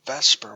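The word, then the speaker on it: VSEPR: we're going to be using is called the Vesper model and that's why let's pronounced Vesper it's spelled vs e P R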